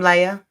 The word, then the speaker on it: Laia: I'm Laya, spelled like Laia, but if you think about it, it's like Maya with an L, if it gives you a hard time.